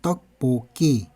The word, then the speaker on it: 떡볶이: 더 보기 떡볶이 라구요 소리에는 어 떡볶이 라고 소리가 나요 떡뽁이 떡볶이 이렇게 소리가 납니다 자 읽을 때 떡볶이